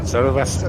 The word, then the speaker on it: cerveza: How do you pronounce beer in Spanish? Is it Cueva? Beer? Cerveza. Cerveza. Cerveza, yeah, that's it.